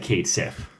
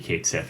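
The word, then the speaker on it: Cait Sith: good question Anika's these I certainly said Kate SIF yeah me too yeah all my life playing that game and then I actually learned the mythology right underlying it and how to pronounce actual Gaelic I think I think yeah I it's gonna have to be Kate Seth right like there's a 1998 fanfic no one was saying catchy in 1998 well I'm also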